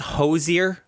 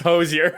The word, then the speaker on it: Hozier: those aren't real people oh i think it's hozier i i actually mispronounced take me to church worship i'm gonna go with him final answer i gave it away you are correct it's it's hosei perfect those are the three people do not